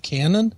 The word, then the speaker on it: Canon: room for my pronunciation is it not canon it's c a n o n that's Canon Canon yeah Canon City police uh